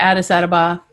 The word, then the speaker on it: Addis Ababa: So we just met a girl who was she came to Addis Ababa, right?